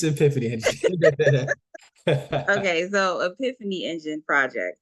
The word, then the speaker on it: Epiphany Engine: Epiphany engine Epiphany engine and you say infinity engine yeah I am I saying it wrong no no it's it's Epiphany engine okay so Epiphany engine